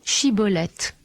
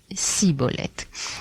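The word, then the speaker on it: Shibboleth: Et c'est la tribu d'Éphraïm, apparemment, ne savait pas prononcer le che. Ce qui fait que lorsque les hommes de Galaad, qui étaient en guerre contre les Éphraïmites, voulaient savoir s'ils avaient affaire à un de leurs ennemis, ils leur demandaient de prononcer le mot Shiboleth. Et eux prononçaient Siboleth.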